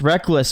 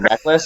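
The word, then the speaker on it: Rekkles: Dude, besides Reckless, because you keep pronouncing it Reckless, and me and Chris are on the same page, we believe it's Reckles, so you're wrong.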